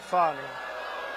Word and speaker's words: Fani: What do you think, Fani? Huh? F-A-N-I. That's pronounced Fanny, but you're not allowed to say it. It's Fani. Oh, boy, oh, boy.